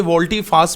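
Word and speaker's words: volte-face: Origin का word है, इसे वोल्टी फास भी पढ़ते हैं और वोल्ट फास भी पढ़ते हैं, फेस नहीं पढ़ना, बस फेस, don't pronounce as फेस, rather you will have to pronounce is like फास, ठीक है, पास नहीं कहना बस।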